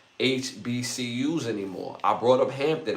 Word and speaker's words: HBCU: And the ones that are not ran raggedy, they don't do business with HCBU with H. I got y'all got me saying it wrong. HBCU anymore.